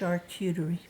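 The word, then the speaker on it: charcuterie: At the feast table, which we later learned was a shutoerie. Is that how you say it? Shuterie.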